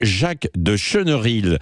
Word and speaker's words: Jacques de Chenerilles: relèvent la tête sur place nous sommes avec Jacques de cheneril j'ai bien prononcé votre mot votre nom oui oui tout